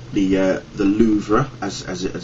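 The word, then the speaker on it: Louvre: was in Paris it's it's the uh the loua as as as it's pronounced which is this uh triangular sort of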